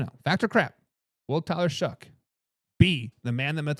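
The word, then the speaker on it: Shough: But it's but it's pronounced Shuck. Like S H U K. Shuck.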